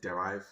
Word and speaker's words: Deriv: This is Derif. Some people call it derive. You know, it's all in the pronunciation.